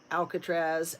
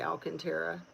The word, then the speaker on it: Alcantara: Or it could even it could even be this kid, the um, Eric Alcatraz. Alcantara, that's how you say his name. Eric Alcantara.